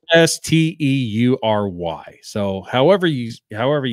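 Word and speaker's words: Esteury Ruiz: You probably butchered it. It's Estury.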